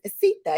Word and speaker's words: Seetha: Mama Seetha, right? Like Seetha. Mamacita, you got That's it.